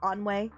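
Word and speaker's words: ennui: Oh, it's pronounced onway.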